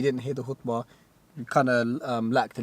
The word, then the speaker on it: khutbah: If a white if like a white brother was to say it, they say it like a khutbah. Khutbah. But it's like khutbah. Khutbah. Arabic pronunciation of khutbah, I think.